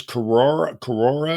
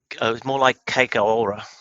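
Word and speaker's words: kororā: And then the Maori name for it is Korora, I think is how you pronounce it. It's more like Keikaora, something like that.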